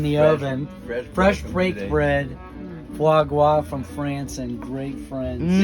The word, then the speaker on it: foie gras: We brought foie gras.